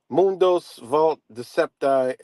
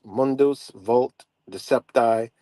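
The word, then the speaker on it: Mundus vult decipi: be deceived you know I pronounced that all up but it's Mundus vult decepi Ergo deceptor so it means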